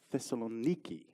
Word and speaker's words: Thessaloniki: I've not been to, now see if I can say it right, it's Thessaloniki, is that right?